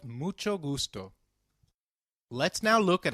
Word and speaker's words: mucho: notice the pronunciation of mucho we earlier learned that that H is always silent in Spanish however when combined with C it is pronounced as CH as in church so can you try